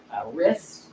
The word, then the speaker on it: wrist: asking about silent letters here's are all the silent letters like when we say Wrist you don't say the r the W you